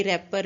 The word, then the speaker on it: wrapper: ये रैपर है, W silent है इसमें, ओके।